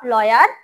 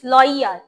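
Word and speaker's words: lawyer: আচ্ছা, এটা লয়ার, নট লয়ার, ইটস লয়ার। ওয়াই এর এখানে রস্যইটা একটু বেশি এমফাসাইজ করতে হবে।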